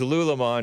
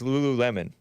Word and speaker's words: Lululemon: I thought it was Lulamon until I heard JLP's producers pronounce it correctly. Somehow I didn't see that third L and that second U. It's not Lulamon, it's Lululemon.